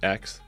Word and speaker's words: X: It's just X, the letter X, and then the AE is like pronounced Ash.